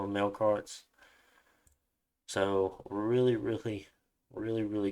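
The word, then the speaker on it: Melqart: That Q kind of turns into a K, but maybe Google's lying to me. I'm not entirely sure. So I'm going to call them Melkarts.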